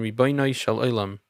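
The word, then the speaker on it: רבונו של עולם: Some, for the sake of authenticity, prefer the Hasidic pronunciation Ribono Shel Olam.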